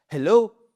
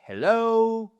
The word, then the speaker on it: hello: Et c'est le cas de bonjour parce que si vous dites hello, non ça va pas du tout. C'est hello. Bon, j'ai un peu forcé sur la seconde syllabe, mais c'est pour marquer cette accentuation sur la seconde partie.